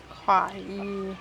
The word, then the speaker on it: Kaua'i: Kaua'i. How do they pronounce it? Kaua'i.